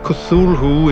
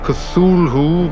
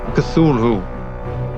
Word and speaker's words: Cthulhu: I am aware that according to Lovecraft himself the correct pronunciation of kusul who is not Cthulhu but more like and I probably mispronounced it for the sake of not damaging my vocal cords even more than I already have over the years I will stick to the commonly used pronunciation of Cthulhu the same goes for